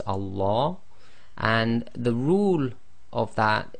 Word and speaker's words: Allah: of the the so we're going to join the a to the lamb so we would normally have Allah but you'll notice everybody says Allah and the rule of